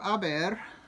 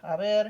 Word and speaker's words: haber: So the verb haber is yo he, tú has, él ha, ella ha, usted ha. Silent H when I say this. I'm not saying he has, ha, right?